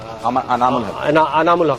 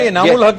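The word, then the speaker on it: Anamul Haque: थी, उसमें भी इसने अनामुल हक ने बहुत ये प्रोनाउंसिएशन में थोड़ी सी मसला होता है। इनामुल हक ही होता है, इनामुल हक ही होता है, लेकिन इन्होंने अनामुल हक किया।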